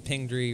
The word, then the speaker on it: Pingree: we'll talk to her it was a ping dree rhymes with palm tree there's there's like two